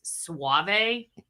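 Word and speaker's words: Soave: bill told me that robbie's last name is pronounced suave okay no please that's what you said no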